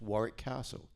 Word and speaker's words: Warwick: for 35 years and no one in America knows you don't pronounce the second W in Warrick.